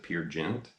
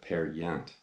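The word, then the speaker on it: Peer Gynt: it's how it's pronounced I used to pronounce at Pier Ghent and then somebody pointed out I believe it's actually Norwegian and you don't pronounce it the way it looks you pronounce that pair yet but this is a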